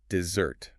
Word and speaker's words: dessert: It has two s's in the spelling and it is pronounced dessert. Dessert. The emphasis, the heavy stress is firmly on the second part.